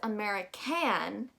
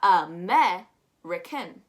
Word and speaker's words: American: We don't pronounce it as American because the stress is already gone on meh. So we've got American.